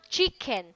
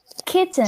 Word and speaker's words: kitchen: You pronounce this chicken, but there is no chicken in what you read. So how do you pronounce this? Kitchen. Kitchen. Okay, so I heard chicken earlier.